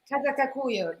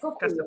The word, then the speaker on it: Casa Kokuyo: What about Katakakuyo? Did I say it correctly? The name of the animation company. Yeah, You're kind it's quite Casa Cocuyo. yes. Casa Kokuyo.